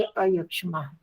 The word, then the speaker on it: अयक्ष्मा: हाँ वैसे जी, जहाँ भी अवग्रह होता है वहां अ नहीं दिया होता, तो इसलिए हम अ का उच्चारण नहीं करते। तो इसमें इसका अ अलग से दिया हुआ, तो इसलिए अयक्ष्मा।